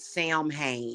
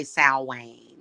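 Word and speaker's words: Samhain: in Sam hay and yes you can pronounce it Sam Hae you don't have to say s Wayne yeah just FYI you can say sam Hayne if you want some people pronounce it that way sometimes I do say s Wayne gosh so yeah I'm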